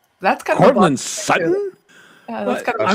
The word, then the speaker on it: Sutton: It's just young men, young women, they don't pronounce T's, and so like there's a player here in Denver. His name is Cortland Sutton. Okay, Yeah. Sutton, Sutton. Yeah. But they don't say Sutton. They say Sutton.